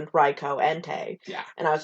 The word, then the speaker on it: Entei: it because it was suicune and raiku and entei yeah yeah and yeah sorry i just stole all these those are all correct um but somebody was like no it's it's raikou sweet raico entei yeah and i was like oh sure like